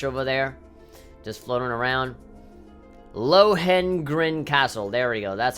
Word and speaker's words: Lohengrin: Lohengrin Castle. There we go. That's how you pronounce it.